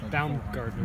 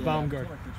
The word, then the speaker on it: Baumgartner: I mean, in German it's pronounced Baumgartner. Baumgartner. But Americanized, it's Baumgartner.